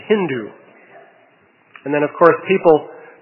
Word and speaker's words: Hindu: it is Sindhu, but people in Iran would pronounce the S as an H, and so they said Hindu.